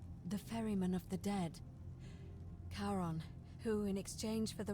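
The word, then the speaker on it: Charon: it's just as you described it only your pronunciation is a little off the name you heard wasn't karen it was c h r o n as in caron the ferryman of the dead karon who in exchange for the right coin helps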